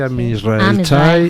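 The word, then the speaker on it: עם ישראל חי: ¿Cómo se pronuncia? Am Israel High, Am Israel Chai.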